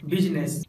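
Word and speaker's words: business: सिर्फ एक ऐसा वर्ड है जहां पर लेटर आई साइलेंट होता है, और वो है बिजनेस। यानी वर्ड बिजनेस में आई साइलेंट।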